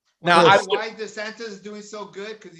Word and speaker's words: DeSantis: How you pronounce the governor? DeSantis. DeSantis.